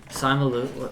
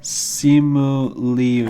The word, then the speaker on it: Simu Liu: Simon Liu. What's how do you say his name? But by the way, spoiler Who is alert. this guy? Spoiler alert. How do you say that? Simu Liu.